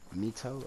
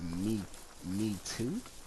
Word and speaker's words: Mito: Not Noko. Mito, or pronounced me too.